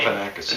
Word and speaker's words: Galifianakis: Galifianakis. It's Greek.